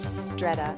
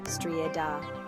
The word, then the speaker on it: středa: Streda, strieda. Stri might sound a bit like stride and da is short like duh.